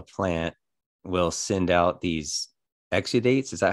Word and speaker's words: exudates: about how a plant will send out these exudates is that how you pronounce it yeah yeah that's just it's like